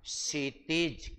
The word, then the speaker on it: क्षितिज: क्षितिज। क्या कहलाएगा? क्षितिज नॉट क्षितिज नहीं क्षितज शुद्ध उच्चारण है।